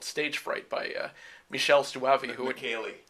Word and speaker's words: Michele Soavi: film from that era called Stage Fright by Michele Soavi. Michele Soavi. Oh, okay, sorry. Michele Soavi. I love to pronounce his name, so okay, well, good.